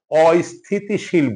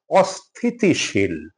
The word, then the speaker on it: অস্থিতিশীল: অস্থিতিশীল, আমরা প্রায়শই ভুল করে অস্থিতিশীল বলে থাকি, এটা অস্থিতিশীল না, অস্থিতিশীল, অস্থিতিশীল।